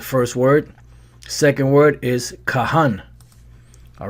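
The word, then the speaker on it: כהן: and names cohen or they might call himself cohen you know that's the way they say it that's our priest but it's really kahani that's how you pronounce it kahan which is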